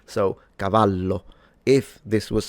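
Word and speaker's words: cavallo: And one last thing I wanted to say is that of course the double L in Italian is just pronounced as a longer/ stronger version of the single L. So, Cavalo, if this was spelled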